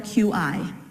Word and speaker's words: QI: proposed the key skills it's actually spelled like that the Q and the I but it's pronounced like the key like the key the yaoi okay so key skills and let's try to